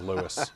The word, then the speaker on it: Louis: He always said, my mother didn't birth a Frenchman. My name is Louis.